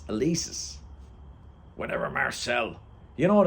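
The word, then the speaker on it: Élysées: do you want to go to Champs ulysis do you think they named it after James Joyce Dad it's elisis whatever Marcel you know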